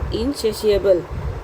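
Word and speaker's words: insatiable: इसका उच्चारण कैसे करेंगे इसको प्रोनंसिएट कैसे करेंगे इसके लिए मैंने लिख दिया है क्या है इनसेशिश देखिए इन आई एन से शी ह इनशिशबल तो ये क्या है इनसेसशिएबल है इसको इनसेशिशबल क्योंकि इसका थोड़ा प्रोनंसिएशन उच्चारण डिफिकल्ट है इसलिए मैंने लिख दिया है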